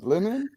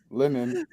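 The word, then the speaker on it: Leinen: shiny wait a second you need to pronounce the name of that brewery it's summer shandy by lemon there's a linen it's l-e-i-n-e-n lemon googles nope nope linen logos that's a better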